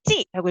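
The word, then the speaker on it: 系: 여기 지링 다입니다 얘는 어 과개 이렇게 명사로 쓰 때는 씨로 읽히는게 맞아요 근데 동사로서 묶다 매다 할 때에는 반드시 찌라고 읽으셔야 돼요 따이는 바로 목에 매는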